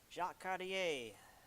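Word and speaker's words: Jacques Cartier: It's French, so just don't pronounce most of it. That's That's how I That's my rule for French is just don't pronounce most of it. Um, it's all it's all like southern English. Just mumble a lot of it or slur it really.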